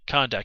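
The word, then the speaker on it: Kahndaq: show the country of kundak or kurak i can't remember exactly uh kondak kondak that's right kondak is how you say it just glance at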